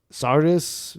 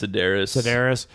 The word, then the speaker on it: Sedaris: Getting into, like, what I don't like about this episode, Amy Sardis, is that how you pronounce her name? I think it's Sedaris.